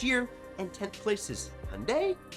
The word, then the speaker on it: Hyundai: 9th is Toyota, who lost 3 spots since last year, and 10th place is Hyundai, which rhymes with Sunday.